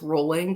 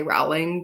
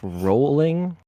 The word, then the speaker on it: Rowling: folks we got vjk Rowling you know I've learned that her last name is pronounced rolling but I purposely say Rowling just to defy her because she's trash but just super talented ugh rolling come on jeez get